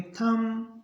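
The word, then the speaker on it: thumb: बी के बाद टी हो तो बी रहेगा साइलेंट इसको पढ़ेंगे को पढ़ेंगे कॉम इसको पढ़ेंगे थम इसको पढ़ेंगे डाउट और इसको पढ़ेंगे ट अब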